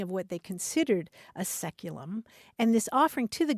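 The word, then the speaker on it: saeculum: c u luu m which in English is pronounced seculum it's traditionally understood to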